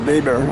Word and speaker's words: Weber: Now, in terms of family history, this is where Grandma Cordes, Emma Jane Weber, pronounced Weber, I suppose in German, was born in 1859.